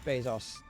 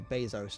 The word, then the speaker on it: Bezos: just that t just that time that uh Jeff Bezos or Bezos depending on how you want to pronounce it uh tried claimed that